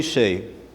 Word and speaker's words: Hsieh: Now, Tony Hsieh, I know that's how you say it.